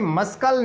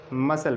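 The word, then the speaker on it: muscle: इसको कभी मस्कल नहीं पढ़ते, मसल पढ़ते हैं क्योंकि सी साइलेंट है।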